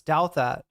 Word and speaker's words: Douthat: That's how you pronounce it. It's Douthat. But like, has Douthat lost some weight?